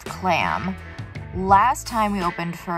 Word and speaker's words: CLAMB: We stan Count Zero on this channel, but we also stan CLAMB. You can follow them on CLAMBgram on Instagram. And everything has a silent B in it because that's just how they roll.